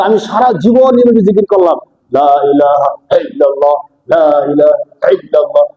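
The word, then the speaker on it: لا إله إلا الله: বলে দিব যে ভাই আল্লাহ নামের শুরুতে আইনা হামজা আর হামজার উচ্চারণ হয় সহজ হালকাভাবে লা ইলাহা ইল্লাল্লাহ লা ইলাহা ইল্লাল্লাহ আল্লাহ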